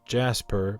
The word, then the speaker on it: Jaspur: We do know the name is pronounced Jasper because he is named after a Decipher employee's cat.